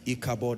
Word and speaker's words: Ichabod: Ichabod is spelled I-C-H-A-B-O-D.